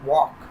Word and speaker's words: walk: वॉक, वॉक माने टहलना, WALK, वॉक। L silent होता है इसमें, इसलिए वॉक माने चलना।